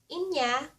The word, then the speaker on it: anya: daiya or that and india is what some say it or pronounce it as india and there's some that pronounce it as and yeah in the data push